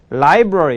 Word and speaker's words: library: 그 다음에 library. library는 혓바닥을 입천장에 댔다가 library.